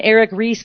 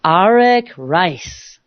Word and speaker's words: Arik Reiss: Arak and it's very exciting many people might pronounce his name Eric Ries but indeed that is incorrect so I want